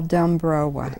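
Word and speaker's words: Dombrowa: could you please spell Duma d o m b r o w a as it's pron the W is always pronounced as a v in Polish Duma Duma MH and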